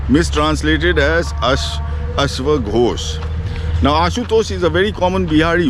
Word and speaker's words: Ashutosh: Temple Mahadev Temple now ashutosh is has been mispronounced mistranslated as us now ashutoshi is a very common bihari word so the